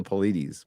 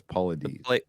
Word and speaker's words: Paulides: I want to say the Paulides, but it's Paulides. Well, that's the Pleiades. Paulides. I hear that a lot. David Paulides. I think we can go on Paulides.